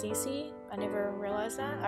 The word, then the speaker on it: Cissy: got is from i guess her name is pronounced cece i never realized that i always called her